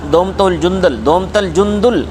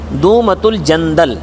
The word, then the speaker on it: دومۃ الجندل: 700 آدمیوں کے ساتھ دومت الجندل کی طرف جانے کا حکم دیا۔ اس کا اصل تلفظ ہے دومۃ الجندل، دومۃ الجندل۔ تو دومۃ